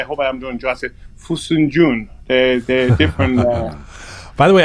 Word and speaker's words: Fesenjān: Yes, crushed walnut, and the way they pronounce it in Gilaki, I hope I am doing justice. Fesenjān.